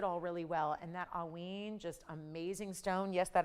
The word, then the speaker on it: hauyne: And that hauyne, just amazing stone. Yes, that is the proper pronunciation. It is spelled h a u y n e.